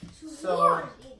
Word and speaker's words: Schwarz: You pronounce it as Schwarz, but each time you write it, it's pronounced Schwarz. Yeah. Schwarz this time. Yeah. It's Schwarz.